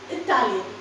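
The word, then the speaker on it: Italian: हाउ आर you going to pronounce the words इटालियन। सी इटालियन इटालियन इटालियन time again I have been saying जो हम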